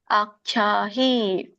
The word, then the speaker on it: ಆಖ್ಯಾಹಿ: ಆಖ್ಯಾಹಿ ದೊಡ್ಡ ಖ ಇದೆ, ಯಾವತ್ತಿದೆ.